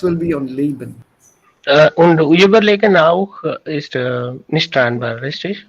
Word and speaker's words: überlegen: Überlegen, when it is not separable, a prefix is not separable, die Betonung liegt auf den zweiten Verb, auf das Kompositum of the Verb am Ende. Überleben, not überleben, sondern überleben. Überlegen, it's on the second one.